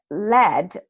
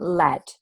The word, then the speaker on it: lead: lots of exceptions to this so for example lead in this instance when it's pronounced with the short air sound is the